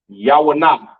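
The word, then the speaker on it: יונה: Which is pronounced Yawanah, all right? And this is also the name of the prophet Jonah in Hebrew, Yawanah, which means dove, all right?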